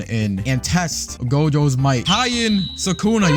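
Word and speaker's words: Heian Sukuna: Hien Sukuna, yes, I've said the pronunciation right.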